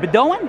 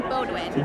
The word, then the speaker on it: Bodwin: All right, I am here with Heather, is it Bedouin? Bodwin. Bodwin, I'm sorry, I cannot pronounce, I have trouble pronouncing my own name over here.